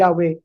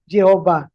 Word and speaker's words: Yahweh: At uulitin ko po yung Yahwe na yon ang tama pong bigkas sa YHWH. Ayon sa mga Bible scholar ay Yahwe hindi po Jehova na naimbento noong 1500s